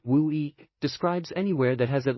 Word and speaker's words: WUI: More technically, a WUI, pronounced WUI, describes anywhere that has at least one house